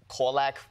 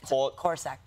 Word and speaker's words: corsac: Kung Fu Panda 4, because you play a Korlak. Okay, sorry. Corsac. Corsac fox. Are you mispronouncing it on purpose?